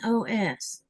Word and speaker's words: rellenos: Relinos or Relinos? How do you pronounce that word, Teresa? It's Rellenos.